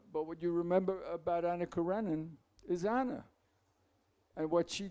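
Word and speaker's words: Anna Karenina: I mean what you remember about uh Ana Corenan in America we mispronounce it. We say Anakarenina which is incorrect as you know. Uh but what you remember about Ana Karenan is Anna and what she does.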